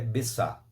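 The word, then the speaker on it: ביצה: significa é essa tristeza e esperança e a pronúncia do ovo é besta ao lado do ovo nós temos os pães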